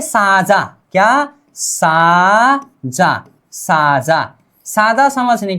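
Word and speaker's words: 사자: यहां पर है साजा, क्या साजा, साजा, साजा समझने के लिए राजा समझिए, ठीक है, राजा का मतलब होता है शेरी राजा होता है। इसका उच्चारण क्या करना है अब हम, साजा, साजा, क्या साजा, साजा क्या होता है शेर।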